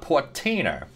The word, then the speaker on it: Portainer: uh setting up a portainer it's like container but portainer um and as far